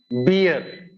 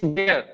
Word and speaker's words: bear: we speak like this there is a famous animal in our forest beer beer it's bear not beer it's bear